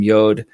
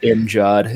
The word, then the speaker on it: Mjod: of his line is, I need some Yod. And they butchered it and just called it Mjod.